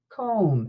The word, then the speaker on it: comb: Okay, next sound, comb. Say comb, comb. Last sound is And which silent letter pair are we going to use with that? The MB.